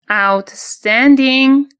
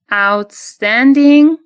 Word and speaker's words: outstanding: به هم متصل میشه و نکته دوم باز تلفظ ng در آخر کلمه هست. به این نکته باید خیلی دقت کنیم. Outstanding. Outstanding.